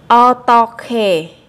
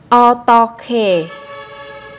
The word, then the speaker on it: 어떻게: 어떻게 어떻게 Các bạn lưu ý các phát âm là chúng ta nối âm hờ kết hợp với âm g ở đằng sau sẽ đọc thành âm khờ.